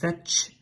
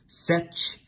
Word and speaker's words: Set: So Set, here pronounced Setch, Setch, S-T-Sh, and Set is the evil uncle of Horus that killed Osiris, and Horus defeated him.